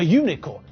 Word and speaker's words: unicorn: And that's because the way we pronounce the word makes it sound like it starts with a consonant. Unicorn sounds like it has a y sound.